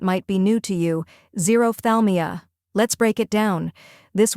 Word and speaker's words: xerophthalmia: The correct pronunciation is xerophthalmia. First part, Z, like the letter Z'd. Second part, Roph, rhymes with off. Third part, Thal, sounds like tall. Last part, Me-a, as in me, and Altogether, it's xerophthalmia.